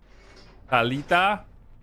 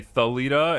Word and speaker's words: Thalita: cuz that's how you pronounce it. Talita and Hinatu. You don't you don't say Thalita and his name is not Renato, it's Hinatu.